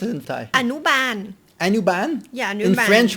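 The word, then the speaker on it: อนุบาล: And how do you pronounce it in Thai? Anuban.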